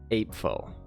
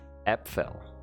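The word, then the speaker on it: Äpfel: apples would be pronounced apefo however german is pronounced differently than english the a would create a sound similar to the e in get epfel is that it epfel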